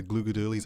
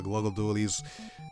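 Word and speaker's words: Glooga Dualies: Yes, I finally understand, you know, that's how you say it, the Gluga dualies. I used to say the Gluggle dualies.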